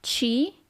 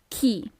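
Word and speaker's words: chi: Then we have who pay attention it's not she it's key.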